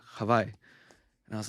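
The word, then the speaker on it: Hawaiʻi: I think Hawaii is just the English name, English way of saying havi.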